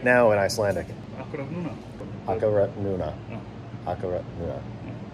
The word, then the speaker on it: akkurat núna: Akkurat núna.